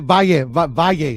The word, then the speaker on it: Valle: Valle. That's how you pronounce it. Okay. Well, you know I can't. You better say Va and then Ye, like Kanye. Valle.